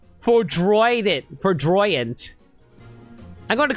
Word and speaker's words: Foudroyant: Did I just say Freudian? It's pronounced Foudroyant.